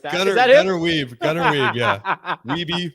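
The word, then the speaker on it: Wiebe: Gunnar, is that Gunnar Weave. Gunnar Weave, yeah. Weave, Gunnar Weave. Spell it.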